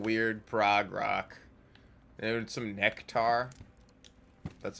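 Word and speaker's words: Nektar: I've been listening to a lot of weird Prague rock and some Nectar. That's how you pronounce it.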